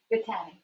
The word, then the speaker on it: Batani: Yes, how do you say her last name? Batani. Miss Batani.